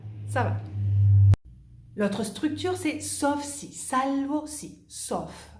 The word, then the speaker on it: sauf: L'autre structure, c'est sauf si, salvo si, sauf. Ahí si pronunciamos la F.